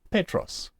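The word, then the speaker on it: Πέτρος: Take, for example, the acute accents found on Petros. You will see the accent is on the epsilon, and we accent it, we stress that syllable, Petros.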